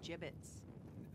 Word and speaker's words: gibbets: out of here Hey look Avery had some gibbets leftover gibbets what it's pronounced jib it's are you sure yeah well no one likes